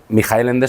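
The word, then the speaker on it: Michael Ende: participo en este programa, supe que eh Mijael Ende se pronuncia así. Yo había llamado Michael toda mi vida porque soy así de de ignorante, pero bueno, o sea, y resulta que es mi jaelende, pero noí en Rusia, no en, o sea, vamos, no sé que se pronuncia así en todas partes. En alemán, sí, en alemán.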